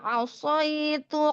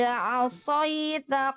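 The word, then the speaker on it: عَصَيْتَ: Al-ana wa qad asaitu qablu wa kunta minal mufsidin.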